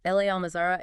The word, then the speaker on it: La Almazara: We've got this fantastic article by Clive from Ronda today about a place called L.A. Almazara. That's LA, pronounced like Spanish la, by the way. La Almazara.